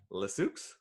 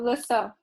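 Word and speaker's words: Le Saux: So it's LE space SAUX. Lesux? See? That's okay, how do you pronounce it? So Lesso. Lesso. Oh, okay, Lesso.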